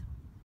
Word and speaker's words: gneiss: ...is put under a lot of pressure like gneiss (pronounced 'nice').